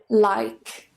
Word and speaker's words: like: Sekarang diperhatikan kalau kata dalam bahasa Inggris berakhiran huruf E-nya nggak pernah bunyi.